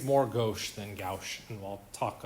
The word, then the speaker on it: gauche: okay that new term g-a-u-c-h-e gauche gauch however you want to pronounce it's pretty sure it's gauche has anybody heard anybody